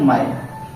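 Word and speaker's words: mine: नो, और इसको आप, इसका प्रोनाउंसिएशन नहीं होगा, ये इसके साथ मिलेगा क्या जगह माइन, ठीक है, माइन में क्या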